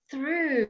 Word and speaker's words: through: Through, it's the oo sound, like food, through.